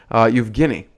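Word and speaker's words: Евгений: And if you're a true Russian, you'd know how to pronounce his name, Evgeny.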